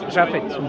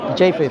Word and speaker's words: Japheth: Japhet. Japheth, yeah. Yeah. How do you say? Japheth.